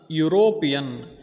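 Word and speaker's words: European: ಇಲ್ಲಿ ಗಮನಿಸಬೇಕಾದ ಇನ್ನೊಂದು ಶಬ್ದ ಯುರೋಪಿಯನ್. ಈ ಯು ಅಕ್ಷರದೊಂದಿಗೆ ಅದು ಪ್ರಾರಂಭವಾದ್ರೂ ಅಲ್ಲಿ ಯುರೋಪಿಯನ್ ಯ ಅನ್ನುವಂಥ ಉಚ್ಚಾರಣೆ ಕೊಡೋದ್ರಿಂದ ಅಲ್ಲಿನೂ ಕೂಡ ಎ ಅನ್ನುವಂಥ ಉಪಪದವನ್ನು ಬಳಸಬೇಕು, ಆರ್ಟಿಕಲ್ ಬಳಸಬೇಕು.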